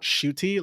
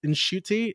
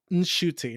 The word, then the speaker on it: Ncuti: I also found out that you're supposed to kind of like softly pronounce the N. It's not shooty like you keep saying. It's Ncuti. Like you hear a little slight N. He didn't know how to pronounce his own name. He allegedly apparently his mom was like, that's not how you say your name. There's an N for a reason. It's not silent.